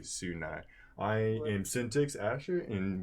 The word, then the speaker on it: SUNY: We've heard Sunny before. We've heard SUNY, so I'm going to say SUNY.